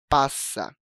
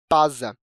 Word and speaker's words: passa: Se a gente a escrevesse com um único "s", pronunciaríamos "pasa", o que está errado de acordo com a norma culta da língua.